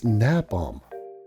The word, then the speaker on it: napalm: Up here we have one of my favorites, napalm. Of course, the L in there. I mean, what's she doing with that L? The L in napalm?